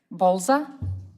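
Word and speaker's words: Bolza: The first person that I have is I think Bza Bza. Yes, My last name is spelled B as in Bravo, O L.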